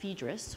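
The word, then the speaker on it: Phaedrus: early as um Plato's fedis Tamar says it's pronounced fedis who knew tomaru um and James agreed so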